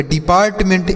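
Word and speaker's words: department: इसे हम पढ़ते हैं पार्ट, PART पार्ट पढ़ेंगे। और देखिए अब MENT है तो इसे हम तो मेंट पढ़ते हैं। क्या पढ़ते हैं दोस्तों? मेंट पढ़ते हैं। तो देख रहे हैं, इसे आप पढ़ेंगे डिपार्टमेंट।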